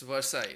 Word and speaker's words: Versailles: palace at versailles right yeah yes am i pronouncing it right it's versailles right yeah yeah we have a person who's